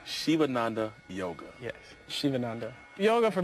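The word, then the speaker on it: Sivananda: a student of yoga yoga yes and it's pronounced shivananda shivananda yoga yes shivananda yoga for me represents you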